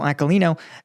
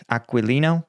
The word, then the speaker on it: Aquilino: indopacific command Admiral John aino uh and Admiral aalo is aquilino aquilino listen man I can't pronounce anything correctly okay come me a break